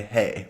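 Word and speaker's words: hej: to say hey well it's basically the same in swedish you can say hey but they spell it h-e-j here whereas in english it's h-e-y because it sounds exactly the same even if you're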